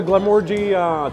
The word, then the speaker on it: Glenmorangie: I'll have the Glenmorangie 10. How do I pronounce it?